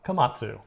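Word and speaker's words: Komatsu: It is Io Kamatsu.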